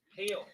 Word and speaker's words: hail: Hail, not hell. Hell is H-E-L-L. Rhymes with bell.